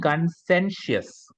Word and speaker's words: conscientious: sure whenever you see Tio it is sure conscientious consensus right conscientious many